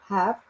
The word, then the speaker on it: have: Letra E. é mudo. Have rejected him.